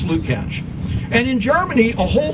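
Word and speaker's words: Lukács: a George Luke catch it looks like Luke acts but it's pronounced Luke ouch and in Germany a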